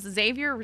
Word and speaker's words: Xavier: Xavier does rhyme with savior.